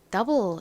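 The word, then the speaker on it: double: 의미를 가진 단어 뭐였죠 더블 이죠 가장 앞에는 디귿 소리 나는가 오죠 그리고 어 소리가 나는 유가 옵니다 더 그다음에 볼 부분은 어떻게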